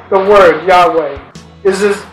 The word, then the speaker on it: Yahweh: you pronounce the word Yahweh is it's as if you're breathing first inhaling and then exhaling now Psalms 50: 14-